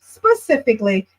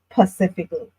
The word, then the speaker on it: specifically: need you to say specifically when you're being serious and not pacifically. Because if you're going to say pacifically, then you have to say knife, panomia, opossum, knight, or some other words that have silent letters in them purposefully, but you're leaving out the S purposefully.